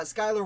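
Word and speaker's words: Schuyler: all work but many of them will uh Skyler was absolutely New York and if I accidentally said Schuler before it's cuz I pronounced it like that for like I I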